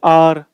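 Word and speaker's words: hour: यहां पर बचना है एच से शुरू हो रहा है हमें लगेगा भाई कंसोनेंट साउंड है लेकिन प्रन किसकी आ रही है वोल की आ रही है इसलिए क्या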